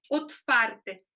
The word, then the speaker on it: otwarte: Tem som de V mesmo, mas quando você fala, por exemplo, aberto, é otwarte em polonês. Então, já fica com som de F, né?